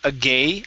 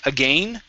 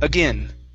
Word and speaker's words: again: This is going to be a short I sound instead of agay, again, with a long A. Use a short I. Again.